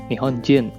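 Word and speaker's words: 日本人: Jepang atau Japanese persen gua akan menyebutnya sebagai nihon jin Nah untuk orang dari negara-negara lainnya gua akan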